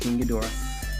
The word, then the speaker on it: King Ghidorah: that's King Ghidorah and that's how it's pronounced King Ghidorah a lot of people